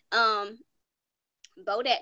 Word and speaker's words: Bodak: It's a summertime bop, but Bodak rhymes with Kodak, and Kodak Black was